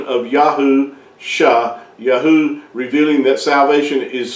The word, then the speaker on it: Yahusha: together you come you come with the uh pronunciation of yaho sha Yahoo revealing that salvation is found in Yahweh